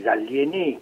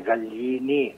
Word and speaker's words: Gallieni: Il merito non è tanto suo quanto del generale Gallieni, che essendo i genitori italiani lo potremmo anche pronunciare senza la I accentata, e quindi generale Gallieni, che si è accorto